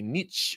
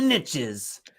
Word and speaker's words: niche: might say Niche or you might say Niche ah same thing it's same thing it's all that different people have different pronunciations but if you want if you want to say that Nifty little rhyme about riches in the niches you gotta you gotta say Niche because it just doesn't sound quite right when you